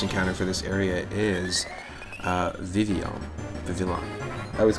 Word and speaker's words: Vivillon: Yeah, I think it's supposed to be pronounced like Vivillon, because in Japanese the name is Vivyon, and this is, like, Pokemon X and Y is greatly...